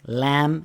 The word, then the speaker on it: lamb: I brought yogurt, lamb, and salmon for brunch. Brought, GH in brought is silent. H in yogurt, B in lamb, and the L in salmon.